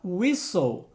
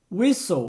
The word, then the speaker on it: whistle: Aliás, é o mesmo som da palavra whistle. Whistle, que significa apito.